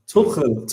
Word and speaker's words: Tuchel: It's a hard name to pronounce, Tuchel. Tuchel. I hope everyone who's live in your throat. From the throat.